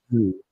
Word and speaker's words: Xu: Maybe it's Zhu. Zhu seems to be okay. Okay, that's that's an interesting pronunciation. Shu. Okay, so Shu is it.